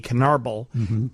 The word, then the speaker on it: Canarble: It's C A N A R B L E Canarbal.